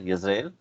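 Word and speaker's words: ישראל: جو شمالی کنگڈم تھی اس کا نام تھا اسرائیل، جس کا عبرانی میں تلفظ ہے یزرائیل، اور جو جنوبی کنگڈم تھی اس کا نام تھا جوڈیا.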